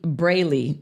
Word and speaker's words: Braley: it was um really Braley Evans it looks like it's pronounced brilly but it's Braley Braley Evans and AJ